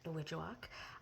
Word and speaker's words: Nowidjawak: But anytime we'd go for a drive, he'd make up a song about that place, Nowidjawak. I remember him breaking it down into a song about Now Would You Walk. So that's how I would remember Nowidjawak and how to say it.